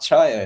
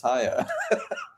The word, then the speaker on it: Haya: And someone corrected me saying, "Hey, it's not Chaya, it's Haya."